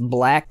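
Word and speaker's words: 6LACK: not heard of black his name is 6 l a c k but it's meant to be pronounced black Problems by him I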